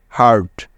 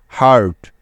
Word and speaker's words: hurt: কারণ হলো দেখো, ইউ এর পরে এখানে আর আছে, তাই। সুতরাং HU মিলে হলো হা। তারপরে আর আছে, যার জন্য নিয়ে নিলাম র এবং শেষে আছে টি, তাই নিতে হবে ট। ব্যাস, HURT একত্রে মিলে হয়ে গেল হার্ট, হার্ট।